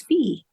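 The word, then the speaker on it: Phee: But I was calling her V, but now I'm glad to know she's Fee.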